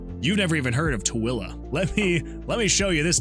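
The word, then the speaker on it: Tooele: How would you assume that this would be pronounced? Tueli? It's pronounced Tuilla.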